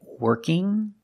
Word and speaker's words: working: yes okay thank you we cannot pronounce ing like ing in there's no G sound it's in we have two pronunciations for ING I can say working or working working with just the n Sound yeah yeah yeah I